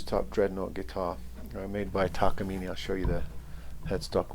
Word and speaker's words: Takamine: all seen plenty of takamines i used to call them takamayans but i'm told that takamine is the correct pronunciation maybe i have some